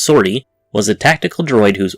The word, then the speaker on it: 50RT: According to Wikipedia, 50RT, pronounced Sortie, was a tactical droid whose origins stretched back to the time of the Old Republic.